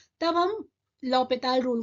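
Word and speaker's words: L'Hôpital: इसे एज a Indian हम एल हॉस्पिटल भी बोल देते हैं बट इसका एक्चुअल प्रोनाउंसिएशन जो होता है वो लॉपिताल होता है जिसका बैकग्राउंड एक फ्रांस का बैकग्राउंड है।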